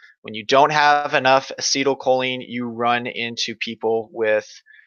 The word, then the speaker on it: acetylcholine: happening it's too little ACH yep acetylcholine it's pronounced acetylcholine when you don't have enough acetylcholine you run into people with you run into